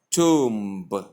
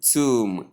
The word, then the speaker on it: tomb: That is, the B becomes silent and you say tomb. And the O becomes long U sound and not long O sound or O sound of any sort, but the long U sound.